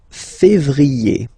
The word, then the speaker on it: février: Then comes février, okay? Remember when you have this accent aigu on the top of then you pronounce it e, okay?